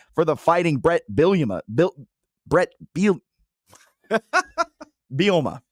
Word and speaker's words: Bielema: Bielema. There we go. There you go. I was adding an extra syllable in there.